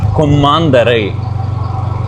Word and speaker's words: கொம்மாந்தரை: கொம்மாந்தரை, கொம்மாந்தரை தான் சரியான உச்சரிப்பேன். பேச்சு வழக்கில் உச்சரிக்கும் போது வித்தியாசமாக வரும்.